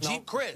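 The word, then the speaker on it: Geep Chryst: But Colin Kaepernick, the quarterback, has an offensive coordinator in Jeep Christ. I believe that's how you pronounce his name. Right. It's G-E-E-P, Yep. Jeep Christ.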